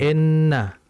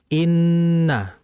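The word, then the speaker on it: إنّ: Jadi hati-hati dalam membacanya, jangan innalladzi, jangan enna. Yang betul inna.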